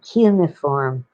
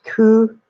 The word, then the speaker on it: cuneiform: It isn't cuneiform. It's cuneiform. The CU, the NE, the I, and the form.